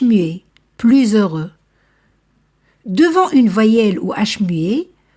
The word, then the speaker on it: plus heureux: par voyelle plus aimable plus heureux ici aussi je fais la liaison parce que l'adjectif commence par h muet plus heureux devant une voyelle ou